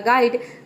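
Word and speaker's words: guide: हैं, यहाँ पे देखिए जी का ग हो गया, यू आई का हो गया आई, और डी का हो गया ड, और ई वर्ड के अंत में है इसलिए यहाँ पे ई को हम प्रोनाउंस नहीं करेंगे। ई क्या है, साइलेंट है। ये हो गया आपका गाइड।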